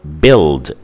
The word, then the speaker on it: build: Also, it can be the combination UI, like in the word build, build. So build, we have the short vowel sound I between the letters B and L in build, but it's represented as a letter combination with the letters UI because it's spelled B-U-I-L-D.